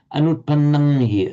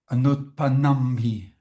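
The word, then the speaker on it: अनुत्पन्नं हि: Can you just pronounce the anutpanamhi again? Anutpanamhi. Not with an M, but with an m sound, as you know, as we typically write with an ng in English.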